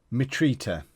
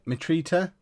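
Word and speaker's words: Mitrović: he'd play in right how do we say his name meat Rita it's at right meet Rita meet Rita we'd normally play him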